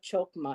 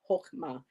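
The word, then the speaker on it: Chokmah: Oh, it's not chokma, it's hokma. Thank you, Bobby. They didn't give you a pronunciation. I saw the hard ch and I thought it was a chokma, but it's a hokma.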